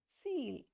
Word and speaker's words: cil: Seal.